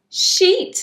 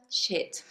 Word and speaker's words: sheet: So the long E and the short I, which we just taught you, the I sound. So this is sheet, as in my bed sheet, the thing that you sleep on your bed. Sheet of paper? Yes, that's right. And shit. You definitely do not want to say, I need a shit of paper.